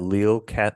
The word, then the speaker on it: Lille: Bray is professor of British literature and civilization at Lille Did I pronounce it right? I know we talked about it in the Lille. Sorry, is that right? Lille Catholic University.